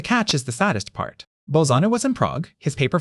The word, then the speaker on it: Bolzano: In 1817, in Prague, a Catholic priest and mathematician named Bernard Bolzano, that's pronounced Bolzano, published a paper with one of the great mathematical titles of all time.